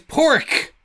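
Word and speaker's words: Pádraig: The answer is Pork. And for those who are interested, that is spelt Padraig.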